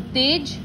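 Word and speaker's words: तेज़: जैसे ये 2 वर्ड लिखा हुआ है, तेज, और यहाँ पर एक बिंदु लग गया, जिसके वजह से इसका प्रोनाउंसिएशन होगा ज नहीं होकर ज। तो तेज, तेज, जमाना, जमाना, सजा, सजा।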